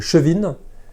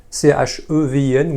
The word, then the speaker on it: Chevin: Bonjour, donc Jean-Charles Martin, je travaille comme directeur commercial pour Chevin, C-H-E-V-I-N, ou Chevin, on peut le prononcer de deux façons.